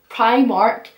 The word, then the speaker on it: Primark: How did you pronounce Primark? Primark. Not Primark. Not Primark.